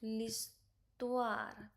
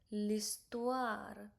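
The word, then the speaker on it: l'histoire: H you don't have to pronounce it become L. Okay. All you have to pronounce listtoir. Listtoir.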